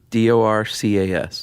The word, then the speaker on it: Dorcas: There's only one way to pronounce that, right? Yeah. D O R C A S Dorcas.